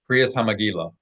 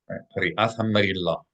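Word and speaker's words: קריאת המגילה: Kriyas HaMegillah, Kriyas HaMegillah. Right? The Ashkenazim traditionally have pronounced the tav with no dot as an S sound. Kriyas HaMegillah. Kriyat HaMegillah. All right, this one's extra challenging, so let's give them extra time.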